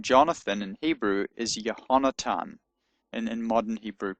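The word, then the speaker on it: יונתן: They're both pronounced in modern Hebrew as a t sound, not as a th sound. So, actually the name Jonathan in Hebrew is yonatan and in modern Hebrew pronunciation.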